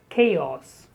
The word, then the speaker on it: chaos: Chaos. I'm sure you know that many words in English containing CH, they are spoken as K, like chemistry. So here the word is chaos.